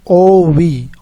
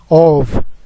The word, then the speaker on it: of: It is pronounced as ov, of.